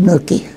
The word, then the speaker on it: Newquay: At a little place called Newquay, N-E-W-Q-U-A-Y, pronounced Nookie.